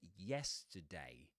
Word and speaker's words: yesterday: Three syllable word. Accented syllable, yes. And the one in the middle is t with a schwa, right? So we've got the dress vowel sound in yes, today. T pronounced with a schwa, and day with a face diphthong that you'll see on the chart too.